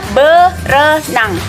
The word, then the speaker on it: berenang: ber swimming yaitu berenang jadi itu dibacanya berenang airnya enggak gabung sama B berenang selanjutnya yang selanjutnya